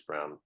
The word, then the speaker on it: Braun: other Brown, not Bruce Brown. Forget his first name. It looks like Braun, but it's Brown. Christian Braun.